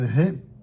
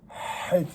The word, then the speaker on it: He: Le H qui se prononce He, c'est une réalité même dans la langue anglaise et ça correspond exactement au He hébreu.